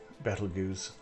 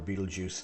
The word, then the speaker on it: Betelgeuse: was the uh was the star betelgeuse or beetlejuice depending on how weight you want to pronounce it um al attack alan